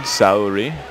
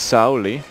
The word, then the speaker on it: Saori: So it seems a consensus I found online anyway that Some Japanese speakers in the U.S. use an Americanized pronunciation, Saori, but it is, in Japan, it is Saori.